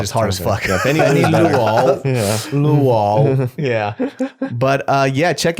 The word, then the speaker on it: Luo: you want to follow me, it's just Benny Luo, BENNYLUO. People used to like to switch the OU, but it's actually LUO. Yeah. how do you pronounce that in the Asian way?